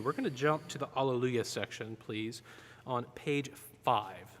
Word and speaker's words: alleluia: gonna jump to the alleluia section please on page five page five this is the one okay um i want the accent on the second syllable now alleluia from this particular piece